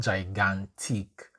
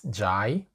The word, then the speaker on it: gigantic: So the letter I is pronounced either e as in big, and I as in gigantic. Okay, so big, e, and I, gigantic, right? It's not gigantic, it's gigantic, ick, big, big, ick.